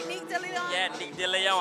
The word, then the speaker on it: Nick DeLeon: Did I pronounce that right? Nick DeLeon. Yeah, Nick DeLeon.